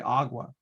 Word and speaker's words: agua: I pronunciate it personally, agua.